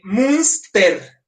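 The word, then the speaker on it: Münster: Munster como monstruo. Munster. ¿Dónde Tomás Munser? Ahí la diferencia del nombre del poblado es nada más que el poblado empieza con T y el protagonista es TZ. El poblado es munster y el tipo es Mun con t ser.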